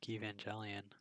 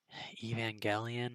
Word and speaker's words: Evangelion: also wouldn't guess that I like Evangelion or Evangelion I guess technically if you read the Katakana that's how it's pronounced I don't like that it's pronounced that way it doesn't make sense to me but that's okay um